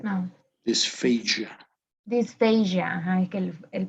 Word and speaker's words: dysphagia: This word, how would you pronounce this? This. No. This. Dysphagia. No. Dysphagia.